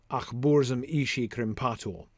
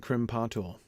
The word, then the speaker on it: krimpatul: If krimpatul has its emphasis on the second syllable, then exactly the thing that I was noticing. Achburzum ishi krimpatul. That two unstressed syllables in a row sounds awkward. I can't avoid the awkwardness there.